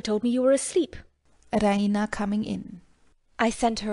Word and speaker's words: Raina: She pronounces it the Raina, with the stress on the E. Raina!